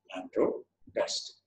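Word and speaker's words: Mantoux: Please note that the X is silent, just like Biomere, the company, it is ending with X. Rolo, you don't pronounce it as Roliax as per the spelling, you say Rolo in physiology. So likewise, here also, Andro test.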